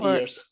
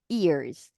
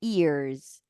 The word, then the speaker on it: years: years rather there that's that's a very common mistake they don't say years they say ears so you have to you have to tell them to pronounce the Y very well okay Years Years there you go okay rather bastante would